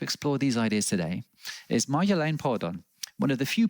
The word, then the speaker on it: Marjolein: Marjolein is a Dutch name, and you're pronouncing it correct. It's like Mar, and then Yo from the rapper, Yo-Yo, and then a line, like a thin line. So Marjolein, that's completely correct.